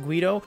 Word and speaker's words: GVIDO: It is spelled with a V, but don't be confused, it is pronounced GVIDO.